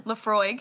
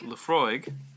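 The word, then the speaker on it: Laphroaig: Lafroig. Lefroig. Yeah. Lefroig. Le Frog. I want to hear you pronounce all of these the way you think they should be pronounced.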